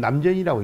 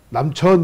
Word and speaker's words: 남전: 이게 원래 천자인데 읽을 때는 남전이라고 읽어. 이게 네 천자잖아요. 이게 남전 그래. 근데 어떤 분들이 또 남천 읽으면 이제 그게 이제 한문 좀 수준이 낮구나 이렇게 아는 거야.